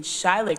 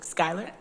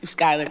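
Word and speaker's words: Schuyler: to put this in shott County I always say it wrong Skyler yeah we could we could we could try to take this particular work product and go to shyler Skyler county and say to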